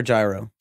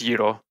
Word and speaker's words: gyro: Is it correctly pronounced euro or gyro? It's euro. Okay.